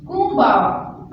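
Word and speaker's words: こんばんは: Good evening के लिए जापानी जुबान में कहते हैं कुंबावा। कुंबावा In silent. जी बिल्कुल ये साइलेंट है, Kumbawa.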